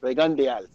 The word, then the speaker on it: Rigondeaux: just go with Rigo, but it's actually Rigondeaux.